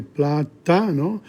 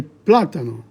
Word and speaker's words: plátano: Because there's an accent on the A, so you can't say platano, you have to say platano.